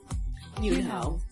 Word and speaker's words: Yunho: The group consists of Hongjoong, Seonghwa, Yunho, who right now looks nothing like Yeosang, Yeosang, he's cute.